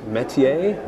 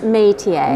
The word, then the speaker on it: Métier: And Doug Clark, both of you with Métier. Did I pronounce that right? Métier? Yes, but we pronounce it Métier. Métier. Because that's the American pronunciation of the French word, which is métier.